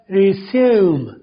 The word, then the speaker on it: resume: कर दिया, तो बनेगा रिज्यूम री प्राइमरी साउंड ई की, ज्यूम यू की प्राइमरी साउंड, रिज्यूम नहीं कहना, रिज्यूम, राइट। इस आखिर में जो ई आ रहा है वो साइलेंट हो गया।